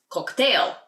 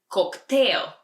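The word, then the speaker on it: коктейл: we order a cocktail cocktail it's almost the same but just a little different pronunciation in Bulgarian cocktail and if you're spying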